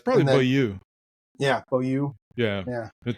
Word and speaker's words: Beaulieu: It's Beaulieu.